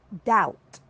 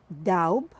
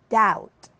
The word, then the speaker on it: doubt: the first word is doubt not doubt but it is doubt here the b is silent the second word is